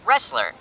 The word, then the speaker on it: wrestler: It sounds like the letter R. The word has the letter R, but it has a silent letter before it.